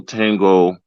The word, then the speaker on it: tenho: Actually, the syllable and eight sounds like when you don't like someone, like that. Nya, nya, nya, nya, nya, ni, nyo, new. Like that. Nya. Tenho.